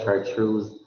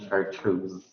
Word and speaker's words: chartreuse: side, then it's yellow chartreuse. If it's on a greener side, then it's called green chartreuse. Chartreuse. So the syllable, I mean, the major stress is assigned to the second syllable.